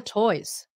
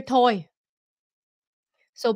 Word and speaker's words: toys: speak when you talk you're not pronouncing the s 99% of you say pick up your toy even though you're talking about when you speak it you say pick up your toy so please remember toys more than one toys